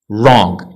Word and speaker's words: wrong: هذه اخر category عندنا w is not pronounced at the beginning of a word followed by an r هذه معروفه w ما